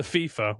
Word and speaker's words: FIFA: Did Did I say it wrong? The FIFA FIFA FIFA FIFA. I said that wrong.